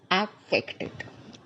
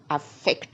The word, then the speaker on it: affected: so see the difference affected and the stress is on the second syllable aected aected affected it now you see